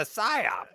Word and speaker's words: psyop: You know why you can't hear the psyop in the bathroom? Because the P is silent. Yeah.